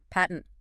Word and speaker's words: patent: Patent. P-A-T-E-N-T. Right. The adjective versus the noun. So as an adjective meaning obvious or easily recognizable, it's usually patent in the U.S.